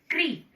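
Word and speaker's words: कृ: ऋषि वाले की मात्रा क्री। उच्चारण पे ध्यान दें। जब हमने ऋषि की मात्रा लगाई तो हमने बोला क्री।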